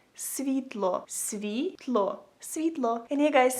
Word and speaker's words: світло: So if you want to say light in Ukrainian, you would say it like світло, світло, світло.